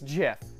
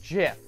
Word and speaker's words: GIF: Theo Joe is going to lay down some righteous knowledge on you it's jiff it's pronounced jiff and you know what